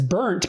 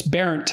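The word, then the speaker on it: Bernt: But because it was parodied as Berndt, because that's B-E-R-N-T, that's how it's spelled. And so it was an object of mockery, but so I didn't look into it much, but it's Barent, and my great grandfather,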